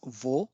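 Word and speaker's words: を: The third one is vo, but it is pronounced as o, and this is used as a particle.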